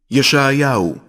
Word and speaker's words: ישעיהו: ישעיהו, שליח אלוהים.